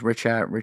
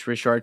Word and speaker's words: Richat: Yeah, I hear this pronounced a couple different ways. Richat.